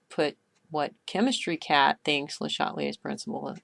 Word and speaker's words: Le Chatelier: This video is about the topic Le Chatelier's principle, or I think you're supposed to pronounce his name Le Chatelier's principle.